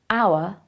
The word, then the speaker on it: hour: the letter for example the h in our is pronounced as a vowel sound so it is an hour but the h in